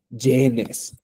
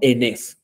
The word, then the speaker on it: yenes: pregunta es en exactamente genes como ustedes dicen pero genes no existe si ustedes dicen que entonces n ningún japonés enti y Y entonces como que no entendemos la forma correcta de pronunciación sería en en por eso aquí diciendo cuesta 80 yenes sí y no hay pures entonces dice únicamente como enes no e ya punto